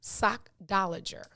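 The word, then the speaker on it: sockdolager: right cause i'm like it's the first part of sock last part is lager s-o-c-k-d-o-l-a-g-e-r it is pronounced sock dollager sock dollager sochtologer it is a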